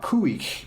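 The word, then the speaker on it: Khu.éex': Kuik is how it's pronounced, and it basically, the album is called Wooch.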